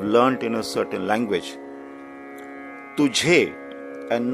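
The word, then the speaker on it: تجھے: We say tujhe, not tuze. This word again is commonly mispronounced by people who have learnt in a certain language. Tujhe and not tuze.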